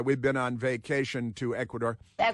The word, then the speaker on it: Ecuador: My best girl and I, we've been on vacation to Ecuador. Ecuador. See, you have to pronounce it like that. Ecuador because it's more fun when you roll the Rs.